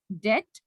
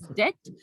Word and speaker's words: debt: So please remember, it is pronounced as debt. The B is silent. We don't say debt, though we have a B here, but we say it, we pronounce it as debt because English is a funny language. We can't help it. So pronounce it as debt and not debt.